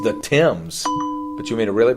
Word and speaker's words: Thames: goes over yeah there you go it's the Thames but you mean to really blow your mind